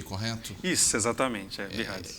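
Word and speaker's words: BI-RADS: Quando sai o laudo da mamografia, tem lá o BIRADS, pronunciei correto? Isso, exatamente, BIRADS.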